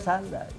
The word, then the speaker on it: Sunday: Kalau Inggris baca Sandai.